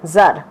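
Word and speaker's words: Tsar: ওকে, টি এর উচ্চারণ সাইলেন্ট থাকে, সেই জন্য জার।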